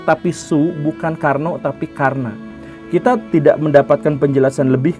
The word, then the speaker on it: Karna: Dan bukan Karno, tetapi Karna.